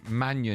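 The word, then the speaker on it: Maignan: Just quickly, Chelsea could turn their attention back to AC Milan goalkeeper Mike, how do you pronounce Manion? Manion in January.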